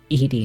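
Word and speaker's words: Edy: Wait, it's not Eddie, it's Edie Nelson. Edie Nelson. I forget about that. It always looks like it's pronounced Eddie.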